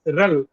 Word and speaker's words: RHEL: hat enterprise linux or we can say rel rel rhd rel okay we can pronounce that as rel got it rel the